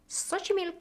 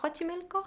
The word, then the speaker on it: Xochimilco: I've visited Xochimilco or Xochimilco, how it is pronounced, and I completely loved it.